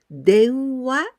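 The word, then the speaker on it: 電話: And in onyomi, we can pronounce wa. Together with this kanji, den. Denwa, it means telephone.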